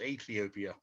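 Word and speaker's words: Aethiopia: And it's spelled like A-E. That first letter is actually a diphthong. So it's Ethiopia.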